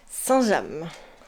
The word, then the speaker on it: Saint-James: Tu lui diras que c'est le nom d'une ville et ça se prononce Saint-James.